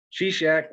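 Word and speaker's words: Shishak: here's your bonus question sea shack was king of which country now this is the one that's spelled s-h-i-s-h-a-k she-shack was king of which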